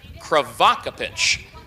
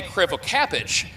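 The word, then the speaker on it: Crivokapich: I believe that Brad told me that the pronunciation is Kvakapich. Bobby Kravak. I I used to say Krevocapich, but but Brad Dy had said Kvakapich at Springfield when Bobby drove a few days ago.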